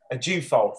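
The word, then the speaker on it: Ajufo: what's not in the second name how'd you pronounce it a jew fault thank you see knows everything lauren a deufo who was who is magnificent she's beautiful i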